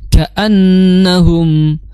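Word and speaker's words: كأنهم: K biasa ka ka ya kaannahum. Nah, di situ a ya a itu tegas jangan sampai ka gan tapi kaan ya kaannahum ya na di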